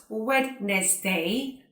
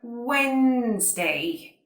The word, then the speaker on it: Wednesday: It is not Wednesday, but Wednesday.